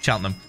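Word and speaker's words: Cheltenham: we just say Birmingham sheltonham is said chelham we we don't [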